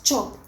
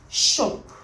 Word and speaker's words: chop: chop chop is she pronounce chop not shop don't change the words don't change the sound it is chop chop not shop shop this is shh not